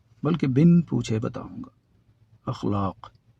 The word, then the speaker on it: اخلاق: آج نہیں پوچھوں گا کہ اس لفظ کا تلفظ کیا ہے اور کیا پڑھتے ہیں اسے آپ، بلکہ بن پوچھے بتاؤں گا۔ اخلاق، اخلاق جمع ہے خلق کی، عربی زبان کا لفظ